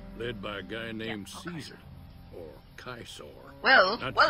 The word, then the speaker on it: Caesar: by a guy named Caesar or kisur well well if it's Latin then you say kaisa because C is pronounced K and V is pronounced